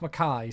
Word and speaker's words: Mackay: It's pronounced Mackay.